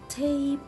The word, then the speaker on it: tape: So here I will say tape, Can I read letter E? No, I will not read letter E. So letter E is a silent letter, but it affects the pronunciation of the word. So it makes the vowel longer.